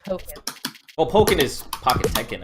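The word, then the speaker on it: Pokkén: It is technically Pocket Monsters, but it's pronounced Pocket.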